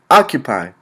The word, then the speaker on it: occupy: word we got occupy occupy has one two three ah q pi occupy three syllables making emphasis on the second syllable the accent is on